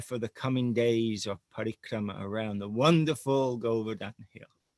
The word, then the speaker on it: parikrama: parikrams, our Kartik parikrams, parikramas, actually it's a long A at the end of parikrama, we always need an A.